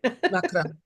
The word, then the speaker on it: macaron: that I pronounce more like the French style just to differentiate from macaroon. Macaron macaron.